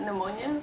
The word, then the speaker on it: pneumonia: Is it pneumonia or is it ammonia? Pneumonia. Pneumonia? Yeah, I had pneumonia. Yeah, pneumonia. Because it's a P. N-O-U, the P is silent.